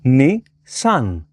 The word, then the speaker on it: Nissan: The number 2 in Japanese is pronounced ni, and 3 is san. Ni-San.